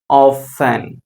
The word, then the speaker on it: often: எப்படி ப்ரொனவுன்ஸ் பண்ணணும் இதை? ஆஃபன்.